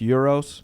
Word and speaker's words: gyros: Yeah, I think it's pronounced euros. Something like that.